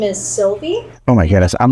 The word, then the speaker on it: Sylvie: two and we do know her name is Sylvie though Sylvie Sylvie how do you spell that s y l v i e